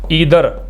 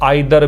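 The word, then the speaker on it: either: Pronoun each भी होता है, ईदर, जिसको आप आइदर भी प्रोनाउंस कर सकते हैं, नीदर या नाइदर, ये भी प्रोनाउंस हो सकते हैं।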